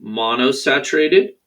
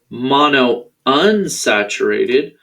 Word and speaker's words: monounsaturated: temperature they can be monosaturated or excuse me i pronounced that wrong monounsaturated or polyunsaturated monounsaturated fats